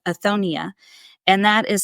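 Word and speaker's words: othonia: is I'm a part of an organization called aonia and that is spelled o t h o n i a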